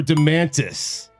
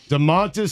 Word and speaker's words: Domantas: Is it Domantas or Domantis? Domantis would be an incredible nickname for him. You're right. Domantas Sabonis king.